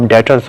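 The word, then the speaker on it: debtors: इसको आप डेटर्स बोल सकते हैं, बी इसमें साइलेंट है।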